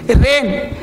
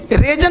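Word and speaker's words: reign: अब एन से पहले जी देखो आ जाएगा, अब यहां पे नेट, जी नेट नहीं बोलेंगे, रेन, रेजन नहीं बोलेंगे, रेन है ना, डिसाइजन नहीं बोलेंगे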